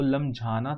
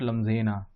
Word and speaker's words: लमझाना: जब देखा तो एक्चुअली इसका प्रोनाउंसिएशन था वो लमझाना था, लमझाना, लमझाना, ओके, नॉट लम्जेना।